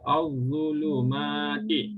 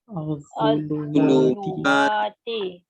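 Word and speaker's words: الظلمات: Al-Zulumati. Okay, ada kena tanya? Dapat cara bacaan dia? Maksudnya bila alif lam syamsiah ini kita tidak akan baca bunyi lam.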